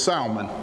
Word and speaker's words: Salmon: IC chairman elect Bobby salmon to the stage all right let me make one correction Mr mberg we pronounce the L it's salmon salmon is on the